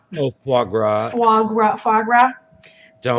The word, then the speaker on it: foie gras: I'm not sure what you're even trying to pronounce foie gras foie gras foie gras foie gras don't let our youth